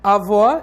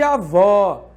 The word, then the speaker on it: avó: como o acento agudo, marcar a posição da sílaba tônica e marcar o timbre da vogal. Então, por exemplo, avó é diferente de avô.